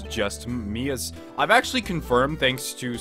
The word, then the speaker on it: Mia: Well, you see, it's just Mia's...